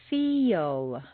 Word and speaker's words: feel: The second example is a word like feel. If you say just the letters that you see, it will sound more like fill or fell. You need to say feel.